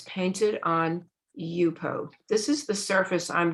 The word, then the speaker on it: Yupo: By the way, for anybody that is not familiar with it, Yupo is spelled Y-U-P-O, just the way it sounds.